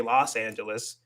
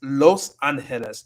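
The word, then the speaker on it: Los Ángeles: So, yeah, so that's why it's confusing because there's no a in it, so you wouldn't say Los Angeles. It's Los Angeles, and it's kind of weird how we say that in English anyway. Why is it Los when it should be Los? If anything in English, it should be like that's weird. Anyway, yeah, it's Los Angeles, Los Angeles, like the angels, the angels, Los Angeles.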